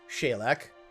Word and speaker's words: Saileach: at this considering bagpipe is level 80 and shalak is and yes that is apparently how you pronounce her name shaylack got it confirmed by a irish friend because